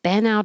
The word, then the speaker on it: bent out: Bent, and this T will change to a D and connect.